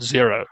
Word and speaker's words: Xero: a cloud accounting package called zero spelled with their ex so XE or s maybe you